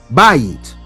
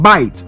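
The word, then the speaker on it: בית: House, bayit. Or some would call it bite, known as a diphthong.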